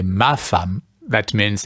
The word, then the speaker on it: Femme: Yes, it looks like the E is a French A. Femme.